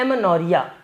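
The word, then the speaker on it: Amenorrhea: आते हैं तो इसको एमेनोरिया कहते हैं। एमेनोरिया, ये इंग्लिश में लिखा है एमेनोरिया, और ये मैंने उसका प्रोनाउंसिएशन लिख दिया है एमेनोरिया।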